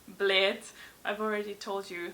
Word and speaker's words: Bled: A lot of people pronounce it Bled, or I don't know what else I've heard, but yeah, Bled is obviously pronounced Bled.